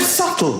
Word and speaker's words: subtle: The word subtle. Would anybody object if it was spelled s u t e? Not a single person would be in the middle going, "Shh, just ignore me.